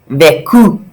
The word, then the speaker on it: vécu: But vivre has an accent aigu, V, and no cd, so it's a hard C sound, a K sound, vécu.